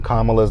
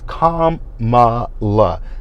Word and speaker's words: Kamala: Y'all are intentionally saying Kamala's name wrong when her name has been pronounced more than once. It is Kamala, not Kamala. Like y'all keep saying Kamala.